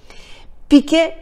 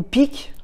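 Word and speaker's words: Pike: Piquet, ou Picque, parce que ça s'écrit P-I-K-E, aimait à dire que Lucifer est Dieu et que Jésus est contre Dieu.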